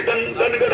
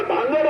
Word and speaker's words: धांगड: actually हे म्हणतात ते धनगड आहे धनगड नाही धांगड असा उच्चार आहे स्पेलिंग जरी डी एच ए एन जी ए डी असलं तरी त्याचा उच्चार धांगड आहे आहे धनगर नावाची जमात